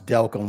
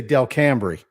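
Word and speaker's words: Delcambre: on the map and have them pronounce delcom Louisiana Yep they're gonna say Del Camry right it it to me it comes from spending some time in the area to learn the way to say like Michael's last name right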